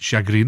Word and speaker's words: chagrin: No, anyway, I couldn't say chagrin because we pronounce it chagrin up here.